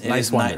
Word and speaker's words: Niswander: But it's Niswander. Just think nice and wander.